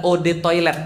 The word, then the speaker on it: eau de toilette: sombong banget eau de toilette adalah Ode toilet bacanya e-awb atau Ode saatnya air toilet ya